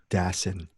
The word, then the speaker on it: Dassin: I'm giving you the correct pronunciation. Jules Dassin.